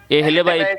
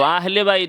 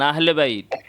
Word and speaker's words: আহলে বাইত: শব্দটা তো ভালো করে বলতে পারেন না। এহলেবাত কি? কি তাহলে আপনি বলেন। আমি তো বললাম দুই তিনবার শুনেন নাই। কানে কি সমস্যা নাকি আপনার? উচ্চারণটা হচ্ছে। আবার আহলে বাইত কোত্থেকে আসলো? আহলে বাইত বলবেন আহলে বাইত ঠিক আছে আমার